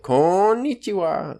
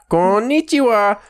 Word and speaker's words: konnichiwa: it takes 45 mmm the problem is when they have double letters they extend the word so you have to say it like konichiwa mm-hmm Minah son go